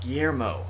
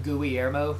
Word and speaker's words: Guillermo: is a character in this game how they pronounce this first named Guillermo Guillermo okay I said a friend named Guillermo we always called him GUI err mo just to mess with GUI yeah GUI err